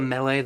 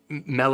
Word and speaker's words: Mele: the Mele, which, yes, I think Mele is probably a more accurate pronunciation than Mele. This is, the word is M-E-L-E. It's a Hawaiian word. I believe it, I don't know, you hear the word in like Mele Kalikimaka.